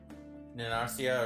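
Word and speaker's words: Narancia: Nanarcia, or however the name's pronounced. Narantia.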